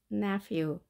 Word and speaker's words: nephew: 남자 조카는 nephew, nephew 또는 nephew 이렇게 발음을 합니다. ph 발음은 f였던 거 우리 기억하십니까? 발음교 f 보이겠죠? 그리고 때로는 v로도 발음합니다. 자, f보다 더 약하게 v로 바뀌는 거죠.